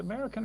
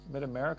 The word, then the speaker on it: Mid America: Is it American or America? Mid America. Mid America. Yeah, Mid America.